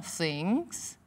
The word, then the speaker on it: things: Olha a pronúncia. Veja bem. Things. Põe a língua sobre os dentes de cima, na frente. Assopra um pouquinho. Things. O G sobe o som, é nasalau. Things.